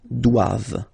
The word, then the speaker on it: doivent: So same thing, classic ending for the plural form, E-N-T here, okay, but then you don't pronounce it. Doivent, doivent.